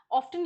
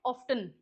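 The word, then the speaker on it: often: ऑफन used in language learning. इस word को क्या बोलते हैं? ऑफन या फिर ऑफन भी बोलते हैं। टी साइलेंट भी होता है। दोनों प्रोसेसिएशन सही है। एक्सेप्टेबल है इंडिया में।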